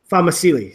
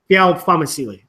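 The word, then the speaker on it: Fa'amausili: Famasili. So I gotta say it fast, not Famacili.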